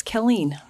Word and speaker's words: Kelleen: Yes, it's Ke Len and it's Colleen.